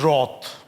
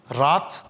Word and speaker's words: wrath: ध्यान दीजिए इसके प्रोनाउंसिएशन पर, दिस इज रॉथ। रात गलत है, रॉथ, ठीक।